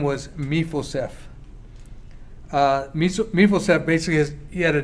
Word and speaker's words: Mephibosheth: So if I say it incorrectly, my apologies, but Mephibosheth is, I think, the way it's pronounced.